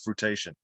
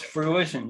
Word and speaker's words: fruition: you say brought this to fruitation yes fruition yes sorry fruition yes no problem thank you thank you for correcting me there appreciation i like that